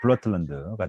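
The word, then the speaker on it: Blåtand: 근데 이분이 이제 영어식으로 읽어서는 이제 블루투스라고 읽고요. 그 현지식으로 할 때는 이제 블러틀런드가 되겠습니다.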